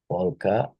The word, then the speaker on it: polka: So polka has the, you can say that um, polka stands with the L, K sound, right?